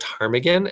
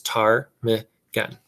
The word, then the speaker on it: ptarmigan: Many birds, including snow geese and ptarmigan, raise their chicks. I know that's the word ptarmigan and that the P is silent because there's a pronunciation guide right here and it says ptarmigan.